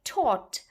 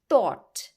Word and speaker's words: taught: teacher taught her so you say taught not thought it's taught so please